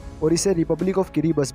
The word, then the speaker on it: Kiribati: तो अगर किरीबतीस लैंग्वेज की बात की जाए तो इसकी अल्फ़ाबेट में TI को S प्रोनाउंसिएशन किया जाता है। बस यही कारण है यहाँ पे किरीबाती की जगह किरीबस कहा जाता है।